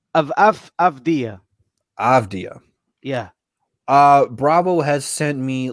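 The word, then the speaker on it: Avdija: Avdia. Denny Adia. That's how you say it. Avdia. Avdia.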